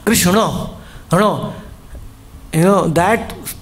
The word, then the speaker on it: Krishna: Krishna actually the dot below N means your tongue should touch the top of your pallet. It should go around Kish in the tongue will not touch the pallet. K comes from the tip of the tongue. But when you say Krishna your tongue should go roundish it should bounce.